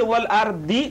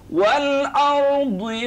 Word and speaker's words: الأرض: Whenever you say it, then you have to make sure your dot pronunciation is correct. So if you say wal ardi, this is khata, this is wrong. Then you say wal ardi wa ma tahaha.